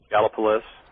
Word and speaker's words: Gallipolis: right near point pleasant how did the natives mention that uh pronounce that town's name galapalys okay i always always gallipolis but okay one of